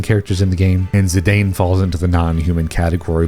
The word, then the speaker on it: Zidane: Fantasy 9 we have zidane as I've always pronounced them some of you might say zidon I don't know zidane as I pronounced It Anyway is a